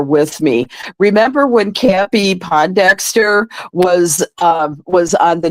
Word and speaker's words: Pondexter: me remember when campy Pondexter was um was on the New York Liberty and Bill lambir was the coach yeah well I had mispronounced the name to as po Dexter and and Bill lamb